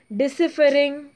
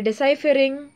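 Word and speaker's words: deciphering: the first person who gave the idea about डिसिफरिंग, sorry डिसाइफरिंग, इट इज डिसाइफर, okay, the pronunciation, डिसाइफरिंग the code, the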